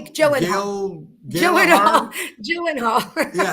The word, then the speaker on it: Gyllenhaal: Jake Gail Jake Gyllenhaal Gail Gy Gyllenhaal. Yeah, you never know by the way it's spelled.